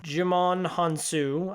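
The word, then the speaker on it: Djimon Hounsou: And finally he picks himself back up, and him and I'm gonna mispronounce this name, I'm so sorry, Jimon Hansu, I think it's Jimon because Jimon, and Gemma Arterton from the Prince of Persia movie.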